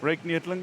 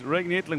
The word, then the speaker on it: Ryk Neethling: How do you pronounce that name? Ryk Neethling.